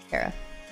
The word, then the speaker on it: Kyra: It's pronounced Kara.